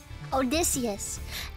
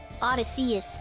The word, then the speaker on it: Odysseus: sheep foreign okay yeah Odysseus in in high school I used to pronounce it Odyssey is and that was a